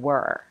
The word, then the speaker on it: were: Where rhymes with air, and were rhymes with her.